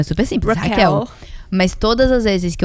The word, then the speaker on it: Raquel: Então aqui e o meu bordão é: "Hi, I'm Hell, like Rachel but in portuguese."